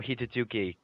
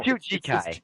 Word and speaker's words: Hitsujikai: Daitoshokan no Hitsugi. What do you? No, Hitsujikai. It's Jikai.